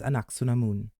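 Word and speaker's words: Anck-su-namun: kaara straight I guess the actual pronunciation is anaksunamun I butcher names myself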